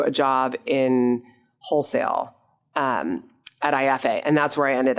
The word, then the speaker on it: Aeffe: It was for listeners, will you tell them what IFA is? Yes, IFA is spelled AEFFE.